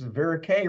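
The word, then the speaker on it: Verocay: news about that is veric rhymes with antonier so you can just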